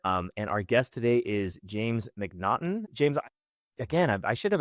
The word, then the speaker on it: Macnaghten: And our guest today is James McNaughton.